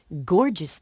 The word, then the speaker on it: gorgeous: Gorgeous George was a wrestler. The first G in gorgeous makes a hard sound.